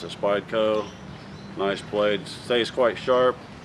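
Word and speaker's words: Spyderco: This is a nice uh Spideyco. That's how you pronounce it. Spideyco.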